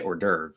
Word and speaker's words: hors d'oeuvre: know it's like like horse doe ray horse day of ray like that's how we would try to say it if we were trying to pronounce it in an english way so we just say